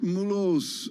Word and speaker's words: Mulhouse: Mulhouse. Okay. You don't say the H in French, Tom. Mulhouse.